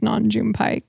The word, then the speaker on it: Nam June Paik: And well, we're going to have to double check, but I'm like 100% certain it's Nam June Paik.